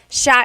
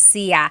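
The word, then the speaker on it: siya: And another tip uh just about pronunciation, it's sha sha. The s i y combination makes that sha- sound. It looks like it should be pronounced sia. There are some regions in the Philippines, I believe, that say sia, but usually in the central Luzon area, it's pronounced sha sha.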